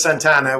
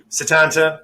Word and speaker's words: Setanta: pronounce so in fact we've had a few people calling us santana which you know sadly not a not a legendary guitarist but satanta that's got it you nailed it i think he would